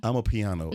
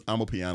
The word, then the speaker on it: Amapiano: How do you pronounce that? Real Amapiano. Amapiano.